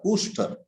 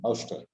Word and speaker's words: ouster: That means knowing someone as different from the self leads to his or her ooster. I check the pronunciation, ooster or ouster. Throwing out, ouster.